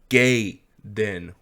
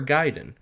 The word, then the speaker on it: Gaiden: there oh resonant evil gay then or gaiden depends how you want to pronounce it this is one of